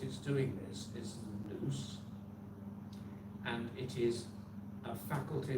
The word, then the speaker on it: nous: What used to be pronounced as nous in England, and teachers would like to say to their pupils, use your nous, meaning what?